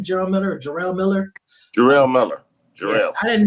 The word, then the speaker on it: Jarrell Miller: Is that how you pronounce his name? Jarrell Miller or Jarrell Miller?